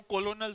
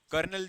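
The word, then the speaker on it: colonel: अब जैसे मैं बोलूं कोलोनल थोड़ी बोलूंगा मैं, कर्नल जो स्पेलिंग है।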